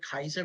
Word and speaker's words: Caesar: I don't like the word Caesar. I call it Kaiser because that's technically the correct pronunciation.